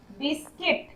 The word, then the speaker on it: biscuit: Next है silent you, BISCUIT। ये क्या हो गया, बिस्किट। बिस्किट बोलेंगे, यू का साउंड नहीं हो रहा, बिस्किट मतलब बिस्किट जिसे खाते हैं।